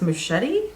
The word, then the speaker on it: Muschietti: um the director was if you want to pronounce it for me Andres machete no you got it his name is on